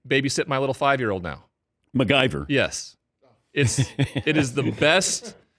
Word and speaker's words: McGyver: Hey, his name is MacGyver. I call him Mick G. Okay. It's MC. It's not spelled like MacGyver, the TV show. It's spelled McGyver.